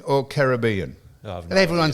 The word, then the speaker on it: Caribbean: Caribbean or Caribbean? And everyone says Caribbean. Now, how it's Caribbean? The Caribbean islands and Monaco. They're the pronunciations that are correct.